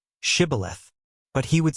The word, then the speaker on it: shibboleth: The Ephraimites, because of their dialect, couldn't pronounce the sh sound and would say sibboleth. Then they would say to him, "Now say shibboleth," but he would say sibboleth, because he couldn't pronounce it correctly.